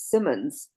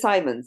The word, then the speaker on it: Simons: Everybody always says Simmons, but it is Simons.